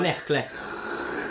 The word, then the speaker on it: Knechtle: Am I saying it right? Yeah, it's alright. Knechtle.